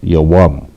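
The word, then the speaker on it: יום: Spelled with the ya, a wa, and the ma. The ya and the wa, the wa and the ma are connected, and it is pronounced yawam.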